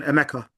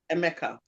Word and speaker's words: Emeka: Is it Emeka or Emeka? The first one, Emeka. Emeka.